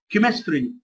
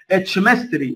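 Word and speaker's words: chemistry: سكول، مدرسه، اركايف، اركايف، ارشيف يعني، كيمستري، كيمستري، ما تقولش اتشمستري، لا، ولا تقول شيمستري، لا، كيمستري تنطق كي، ودي كلمات تحفظ ملهاش قاعده.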